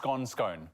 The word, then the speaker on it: scone: We haven't, but I'm excited because I love a good scone. Yes. Carl actually confirmed the pronunciation is scone because it's on like a scone.